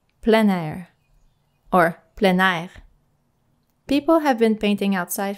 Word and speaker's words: plein air: outdoor painting i saw that sometimes it is pronounced plain and other times plan i can tell you the correct french pronunciation is plan plein air or planar people have been painting outside for centuries but